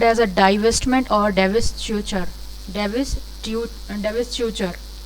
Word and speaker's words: divestiture: Divestiture. Do not spell it divestiture. It's not T, and T is not pronounced here. Divestiture is the divestiture. That is the real pronunciation of this.